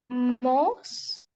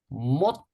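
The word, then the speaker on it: 못: Most. One more time, please. Most. Most. And the meaning? Hand or nail. Try to say it with me. Mot. T sound at the end.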